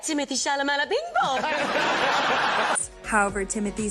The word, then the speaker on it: Timothée: Timothy. It's pronounced Timothy. It's whatever you'd like. Because I always thought, I don't know if you guys, I thought it was Timothée because of the double E's at the end.